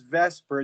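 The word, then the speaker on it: VSEPR: uh vesper theory so we pronounce this as vesper it's valence shell electron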